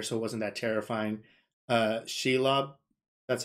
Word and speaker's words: Shelob: Shelob, that's how you pronounce it correctly.